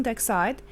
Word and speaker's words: dioxide: We can divide it into 3 syllables. Okay, so we have d, I. Here I make the long sound for the letter I, looks like its name. And then we have oxy, oxy. Here also I pronounce as long sound for the letter I, so it's I, di, oxide, d. We know that the E at the end of most words in English doesn't pronounce. Okay, so we have here the word carbon dioxide.